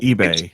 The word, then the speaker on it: ube: like a sweet potato it's pronounced ebay nikki hill ebay i